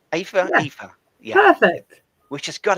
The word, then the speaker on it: Aoife: I think if my memory serves me right, it's Aoife. Aoife.